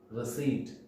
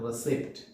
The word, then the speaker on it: receipt: Letter P is silent in this word. And the correct pronunciation is receipt, not receipt.